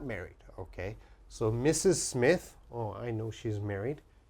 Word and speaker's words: Mrs.: The first one, MRS. MRS is pronounced Mrs., Mrs., and Mrs.